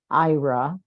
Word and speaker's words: Aira: It's pronounced Aira.